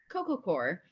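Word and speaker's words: coco coir: pros and cons of cocoa how do you pronounce that Coco core Coco core yeah so Coco core and a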